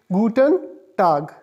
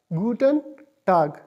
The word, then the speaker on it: guten Tag: is GU te n PL g and it's pronounced is guten tag guten tag tag is basically used for day it's generally